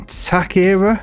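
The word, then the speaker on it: Táchira: think I pronounced it wrong I know I pronounced it wrong in that story and attack era is how you'd say it I'm gonna call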